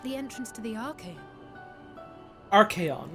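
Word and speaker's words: Archeion: Archaeon, that's how you pronounce it, okay.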